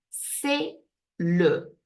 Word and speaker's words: c'est le: Where are the silent letters in c'est le? Let's see if you manage to identify that the S is silent and the T is silent.